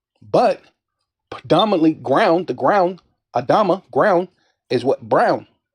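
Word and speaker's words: אדמה: Adam meaning how do you say it in the Hebrew? Adama, right? Adama, ground, meaning ground.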